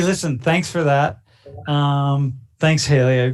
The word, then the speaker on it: Kaylee: Thanks, Haley. Kaylee. Did I say it right? Kaylee? Kaylee, yeah.